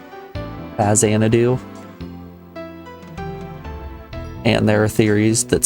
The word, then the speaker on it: Faxanadu: I've always pronounced it Faxanadu. I refuse to accept that an X makes a Z sound.